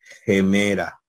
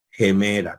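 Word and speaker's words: ἡμέρα: la vamos a trasliterar gemera gemera con acento en la en la penúltima sílaba verdad gemela bien continuamos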